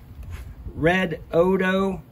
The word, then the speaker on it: Redodo: Redodo, Redodo, however you want to pronounce it, I pronounce it Redodo, because you want to do get these.